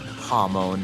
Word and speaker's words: Hamon: Toma, it's actually pronounced Hamon. There's no R in the word.